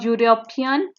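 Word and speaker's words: European: Next question है I must congratulate you on your exam result yesterday a यूरोपियन called at my office. Easy, यहाँ पे ई लिखा हुआ है लेकिन ई का प्रोनाउंसिएशन यू में आएगा, इसलिए यहाँ पे ए लिखेंगे।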